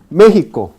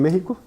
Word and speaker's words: México: si fuera español entonces en los españoles pronuncia como consonante velar los mexicanos pronuncia como